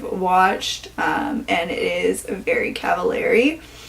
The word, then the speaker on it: Cavallari: and it is Very Cavallari. I always thought Kristen Cavallari's last name was pronounced Cavallari, but makes sense because it rhymes with very, so I think we're good on that now.